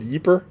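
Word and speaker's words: Ypres: Uh, and it is about the first battle of I call it Yeper because the man who introduced me to it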